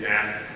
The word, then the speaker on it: Knapp: This is Knapp, you know, the K is silent there, right?